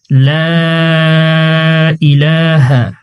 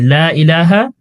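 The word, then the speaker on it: لا إله: কালিমায়ে তয়্যিবা, লা ইলাহা ইল্লাল্লাহু মুহাম্মাদুর রাসূলুল্লাহ। এখানে আমরা আমাদের যে কমন ভুলগুলো আছে, যেমন লা ইলাহা, এখানে 3 সেকেন্ড পরিমাণ টানতে হবে।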